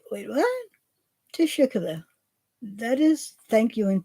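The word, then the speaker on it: teşekkür: know he was saying it's almost like tea and sugar because it's to Shukla so the that is how you say thank you in Turkish and it's like just say team sugar and I was like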